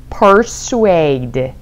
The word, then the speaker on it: persuade: 아, 발음이 조금 어려워요. R 발음 확실하게. persuade.